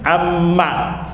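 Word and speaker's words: عمَّ: Amma manya pendek bacanya amma.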